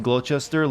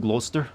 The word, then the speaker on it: Gloucester: loaded i mean drunk that guy just pronounced glochester like it's spelled i mean i probably am doing that too it's where it's pronounced gloucester lost gloucestershire probably new